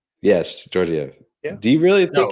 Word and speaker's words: Georgiev: Is it Dragunov? The goalie for who? Colorado. Georgiev? Yes, Georgiev.